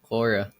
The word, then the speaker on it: Quora: I didn't know you did Quora. That's how you say it. Yeah, Cora.